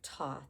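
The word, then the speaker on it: Thoth: So that's the image of Toth. It's it's spelled T h o t h.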